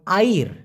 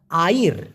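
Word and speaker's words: air: পারি নেক্সটে পানি পানিকে মালয়েশিয়ান ভাষায় বলা হয় আইর আমি আবার বলি আইর অনেকে আইর বলে কোন সমস্যা নাই মূলত সঠিক উচ্চারণ হবে এ আই আর আইর এখন এই পানি দিয়ে একটা ছোট্ট বাক্য আপনি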